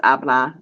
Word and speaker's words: habla: You don't pronounce the H, just so you know it's habla.